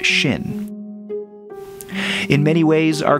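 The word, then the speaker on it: 心: heart and mind it's this character which is pronounced Shin in many way ways our culture is infected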